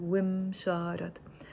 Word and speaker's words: ومشارط: So I'm not saying woo, pausing, and then مشارط. Imagine there is an imaginary kasra under the waw, wim, wim, pronounce it like that, wim sharat.